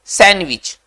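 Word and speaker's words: sandwich: बच्चों आगे बढ़ते हैं सैंडविच देखिए विच ये सैंड में ना ये डी साइलेंट होता है डी को बोला नहीं जाता है डी स्पेलिंग में होना चाहिए हालाकि डी को बोलते नहीं है है ना सैंडविच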